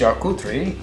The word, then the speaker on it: charcuterie: in the french tradition charcuterie pronounced chakutri is the art of